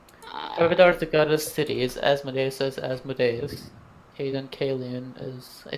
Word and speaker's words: Asmodeus: jerk it up last time I'm stomach it's Asmodeus but spelled with a different D that's my complete opposite